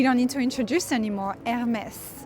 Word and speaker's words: Hermès: need to introduce anymore, Hermès. So pronunciation wise, it might be a bit confusing, but as good French people, you don't pronounce the H at the beginning. So it's just Hermès. But yeah, I really like their facade.